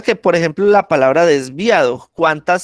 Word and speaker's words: desviado: Bre- Mire que el acento lo estoy poniendo en via, desviado, ¿sí?